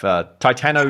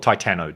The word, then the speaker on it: Titano: to say this stuff titano is good i call it titano just seems like that